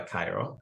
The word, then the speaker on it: Kairu: I go by Cairo. It's pronounced as the capital city of Egypt.